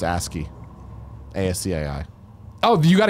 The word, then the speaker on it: ASCII: yeah ask you al Brock says it's pronounced ASCII Asda I hope you